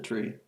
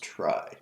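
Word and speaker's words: trie: each part of the tree uh not really sure what the difference is between a try maybe this is pronounced try not tree I forget it's spelled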